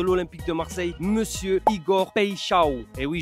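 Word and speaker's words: Paixão: de Marseille, monsieur Igor Pecho. Et oui, je le prononce bien car j'ai regardé la conférence de presse.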